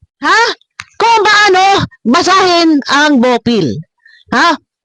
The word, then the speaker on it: Bopil: Bopil, hindi Bopel. Ha? Hindi Bopel. Mabihira. Tayo tumanda na ho. Dapat yan ay tinuturo sa atin kung paano bigkasin ang AEOO. Ay, wag mo magagalit. Lo, ha? Dahil ang bigkas mo ay Bopel. Hindi ho Pel. Hindi ho Pel. Hindi P-E-L. P-I-L.